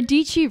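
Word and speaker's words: Sarah Dietschy: it that's my branding Sarah deechi rhymes with Fiji and that was back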